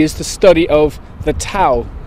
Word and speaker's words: Tao: And Taoism really is the study of the Tao, T-A-O, or the Tao as it's sometimes pronounced.